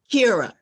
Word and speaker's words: Kira: And it's a wonderful story about Kira, or do you pronounce her Kyra? Kira. Kira, that's how I pronounce her.